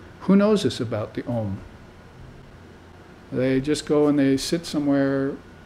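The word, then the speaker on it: Aum: The word is spelled A-U-M, Om.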